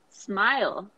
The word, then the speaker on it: smile: Smile. Smile. Not smile. Smile. No, smile. Okay.